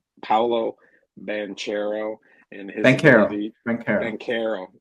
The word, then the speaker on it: Banchero: Banchero. I got to do it with a K.